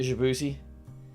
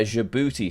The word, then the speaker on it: Djibouti: Yeah, Djibouti. So the way I remembered the Djibouti flag is Djibouti is spelled D-J-I booty.